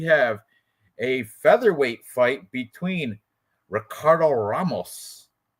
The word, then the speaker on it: Ricardo Ramos: Next, we have a featherweight fight between Ricardo Ramos or Ricardo Ramos, depending on if you want to say the R's or pronounce them in Portuguese.